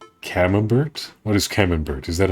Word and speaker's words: Camembert: deep things in it's French so I don't pronounce the tea you call it Camembert hennenberg Camembert sounds like nonsense of course that's